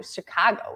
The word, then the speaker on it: Chicago: native to this area you say Chicago I do Chicago with that very a a a but if you listen to Harry in that piece Chicago it was very like